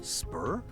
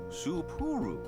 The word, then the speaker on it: Supuru: Spur. No, three syllables. Supuru.